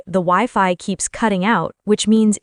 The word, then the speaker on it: Wi-Fi: And Wi-Fi, by the way, is pronounced Wi-Fi, not Wi-Fi.